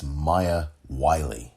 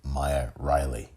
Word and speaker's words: Maya Wiley: Getting one of those names wrong, however, it's Maya Wiley. He said Maya Riley.